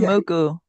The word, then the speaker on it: Ichimoku: Yeah, I don't want to pronounce it because it's gonna make me sound like I'm it's ICH. Ichimoku.